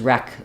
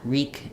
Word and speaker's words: wreak: e reek and W sometimes you'll hear when people say that phrase wreak havoc uh they will say it as wreck havoc but that's actually incorrect it should be the E vowel for EA re Havoc it I did see